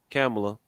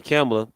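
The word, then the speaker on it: Kamala: here so they sent kamela I said it right that time they saying camera to Africa to a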